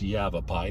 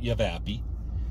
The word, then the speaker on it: Yavapai: the sun Yavapai County it's pronounced Yavapai not yavapi Yavapai County people of